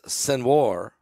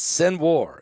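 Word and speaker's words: Sinwar: nearly 1,400 people dead it's sen War it's spelled s i n w a r sen War I think you say it sun War he is The Mastermind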